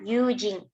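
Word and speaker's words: 友人: Kalau yang ini dibacanya yujin.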